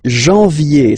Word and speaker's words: janvier: But anyway, janvier, so that's the way to pronounce it. Janvier, A-N, en, okay? And then ye, janvier.